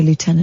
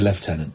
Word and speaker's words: lieutenant: the news site liutenant no cuz he's American they'd say Lieutenant but we're in Britain we say left tenant no but the left tenant's daughter uh we're in Britain we say it properly no during an ensuing